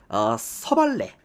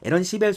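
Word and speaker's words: Aaron Civale: 오늘 미로키 선발 투수가 서발레 뭐 에런길이죠. 그러니까 영어대로 그대로 읽으면 우리가 우리나라에서 이제 어 서발레 이렇게 뭐 소래 이런 식으로 읽는데 그냥 영어대로 읽으면은 에런 시벨이라고 읽으시면 됩니다. 에런 시벨 선수가 선발 등편을 하게 되겠고요.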